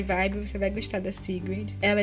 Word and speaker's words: Sigrid: Hoje eu vou indicar a Sigrid, tipo, fala Sigrid, mas na verdade é Sigrid, que se escreve, né?